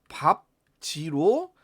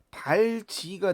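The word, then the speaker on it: 밟지: 이거의 표준 발음은 우리가 일단 밥지로 자음군 단순화가 일어나고 그리고 나서 이제 경음화가 일어나서 밥지가 되죠. 그런데 여기서 만약에 리을이 아니라 비읍을 탈락시켜 버리면 발지가 되면 우리가 밥지라고 하는 표준 발음이 나올 수가 없는 거죠.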